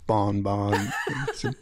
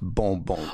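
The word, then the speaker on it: bonbon: were your musical influences I like the way you said bon bon that's actually pronounced bom Bon Bly accent Bo um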